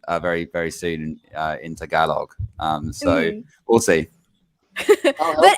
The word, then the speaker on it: Tagalog: do it zach okay the accident is um at the ga so it's tagalog not tagalog tagalog yeah i just